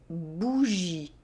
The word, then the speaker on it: bougie: For example, du fromage, une bougie. The letter J in French is also always pronounced that way.